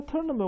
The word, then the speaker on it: tournament: 好，那 tournament 我们看哈，tournament 啊，重音在第一个音节啊。所以我们来看它这个字，它说是中世纪的英文啊。啊，那当然，啊，它是 sense to 啊，那代表意思就是这个，啊，比较是一开始就有的单字了哈，所以是 Anglo-Norman French